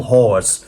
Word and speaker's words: Hawes: I sound like I'm saying Phil Hawes, but I'm saying Hawes. I'm trying to pronounce his name properly, people.